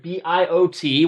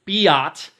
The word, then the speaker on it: Biot: what is that that is known as the bo number i know it's spelled sort of weird b-i-o-t what what in the world does that mean uh you do not pronounce it biat it's known as the bio number but in